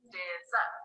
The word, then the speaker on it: dessert: Dessert is a 2-syllable word with a stress on the second syllable. You can go like this, dessert.